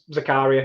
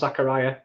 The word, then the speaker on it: Zakaria: i'm gonna go with zakaria it's just easy i know he's probably pronounced zachariah but i'm gonna go zakaria rolls off the tongue a little bit better